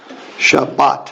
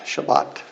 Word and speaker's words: Shabbat: to look at this you can see the two syllables so Sha but and bring these two together and this one by itself Shabbat Shabbat okay absolutely yeah if you